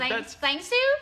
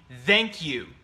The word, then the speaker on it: thank you: Thank you, but thanks you. Yeah, that's not the correct pronunciation. Mm. It would be thank you.